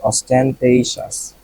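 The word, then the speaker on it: ostentatious: অস্টেনশিয়াস না অস্টেনশাস, সেটা আমরা একটু উচ্চারণ দেখবো। অস্টেনটেশিয়াস, অস্টেনটেইশাস।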